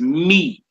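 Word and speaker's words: מי: The word there is me. Me. It's mem and yo. And it makes the E sound because the dot is underneath the mem.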